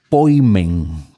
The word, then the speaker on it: poimen: refiere a pastor, a ese poimen que es como en griego se pronunciaría, nosotros vemos que ese elemento se le adjudica muy especialmente a la figura de Jesús.